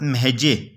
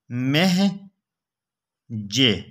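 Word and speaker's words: مہجع: وہ نام پوچھ لے تو نام یہ بتائیں، حضرت مہجے، حضرت مہجے، کچھ مشکل لکھا جاتا ہے، میم ہے جیم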